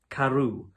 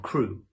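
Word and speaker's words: Crewe: difference in the name Madame Pascal pronounced it as if it were kuru instead of crew but that might be merely a matter of pronunciation the circumstances were curiously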